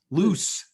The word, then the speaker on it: Luce: have our main character luche is that her name loose loose it's spelled luch it's yeah loose but like doesn't she